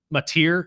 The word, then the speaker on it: Mateer: But the Oklahoma Sooners were able to pull it off at the end with a beautiful run by their own, Mateer, I believe is how you pronounce his last name.